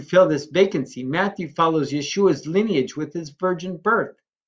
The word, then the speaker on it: Yeshua: who keep saying, well, his name isn't Yeshua, it's Yahusha or Yahushua or all these other crazy things coming from. If you go to the land of Israel, it's Yeshua. That's how it's said.